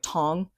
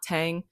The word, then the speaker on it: Tang: I wanted to establish that in the Tang dynasty, which also it's pronounced like Tong, and Okay. I keep on reminding myself that it's not Tang.